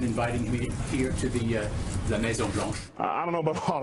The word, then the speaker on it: Maison Blanche: to maybe even inviting him here to the La Maison Blanche? I don't know about all that, but damn, that's a tremendous French accent. How do you say that again? La Maison Blanche.